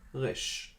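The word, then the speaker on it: ריש: The English equivalent is R. But as you can hear, it's pronounced differently. Resh. The pronunciation comes from the throat. Resh. R, R, resh, R. So note the different pronunciation. A little bit difficult to pronounce it in a Hebrew accent.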